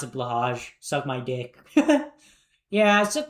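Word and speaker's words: Blåhaj: Um um it's pronounced blow high. I'm going to pronounce it blahaj.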